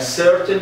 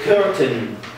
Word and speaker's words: certain: A certain number a certain number of to have a certain number of ping. Yes. Very good. Wait. We have a certain number. Uh Muhammad said curtain.